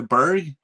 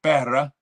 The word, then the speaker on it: Berg: By the way, everybody, the Berg is actually pronounced Berra. Not even like a G. Berra. Now you know.